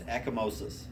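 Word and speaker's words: ecchymosis: the test and you'll see it forever it's eckomosis you ever heard of echomosis no you spell it it's e c c h-y m-o-s-i-s echomosis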